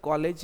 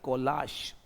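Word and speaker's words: collage: तो सी ओ एल एल ए जी ई कोलाश है ना कि कॉलेज है।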